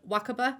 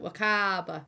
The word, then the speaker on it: Wakaba: I just want to jump in and say that I pronounced this name wrong, and I'm really sorry about it. I tried, and it's actually pronounced Wakaba. My accent really elongates words like Wakaba, water.